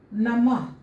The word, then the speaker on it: नमः: जैसे प्रातः, ह उच्चारण करें, प्रातः। नमः, नमः।